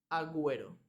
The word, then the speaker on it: Agüero: con gu ui águila pero cuando tenemos diéresis dos titos en la u la u no es Silent más tenemos que pronunciarla por ejemplo en el nombre del futbolista Agüero y ya está esa